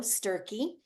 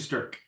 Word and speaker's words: Stürcke: featured artist is sturky so is that how you say it STK it's actually sterk yeah St STK thank